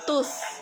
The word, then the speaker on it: tooth: Tooth. Ma, mali yung pronunciation mo. Tooth. TH yun.